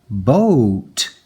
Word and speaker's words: boat: interesting that happens here the o and the a together well they make this first vowel say its name so it's a long o o I might put